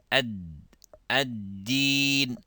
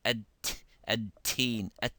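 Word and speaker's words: الدين: Maliki yawmiddin, ad-din, ad-din, rather than to say ad-teen, so you let the air come out, becomes like dal.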